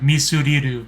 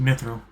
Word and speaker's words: mithril: Because yeah, in Japanese it's like misuriru, like just so much harder to say. So just mithril.